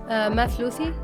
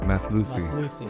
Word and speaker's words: Mathlouthi: Mathlouthi. Mathlouthi.